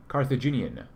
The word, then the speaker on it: Colthaginian: But some comments include, I think Colthaginian is pronounced pretty much exactly like Carthage. Colthaginian.